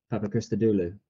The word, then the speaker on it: Papachristodoulou: and like yourself as anthony said your surname papa krista dulu which i too have learned to properly pronounce there's they go off the top of